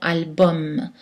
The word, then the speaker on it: album: allemands comme einstein et aux mots latins ou la terminaison uem est prononcée hommes comme dans album donc pas de voyenne